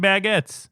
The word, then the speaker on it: baguette: Why are they always breaking baguettes? Baguette rhymes with faggot.